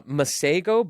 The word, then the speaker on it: Masego: who is it called it's uh masego but it's spelt out like mace and go so m-a-s-e-g-o i he